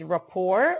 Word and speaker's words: rapport: kid the pronunciation is rapport we do not pronounce the T rapport is the relationship of